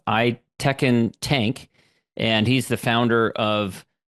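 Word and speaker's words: Aytekin Tank: busy work by uh I believe it's pronounced I Tekken tank and he's the founder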